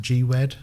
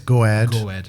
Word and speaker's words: Gwed: and then is it is it pronounced gwed it's it's goad so it's kind of an abbreviation of goahead right but which depending